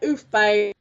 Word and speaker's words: Ooftbbz: you say it uh it's like oof bab like um I came